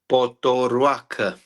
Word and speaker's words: Potoroaca: mlin can you tell us your last name poorak okay just like he said it but mlin